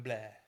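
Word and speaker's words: Bleu: Madame Blair. Is it blur? Yeah, it's spelled the French right. So, bl eu.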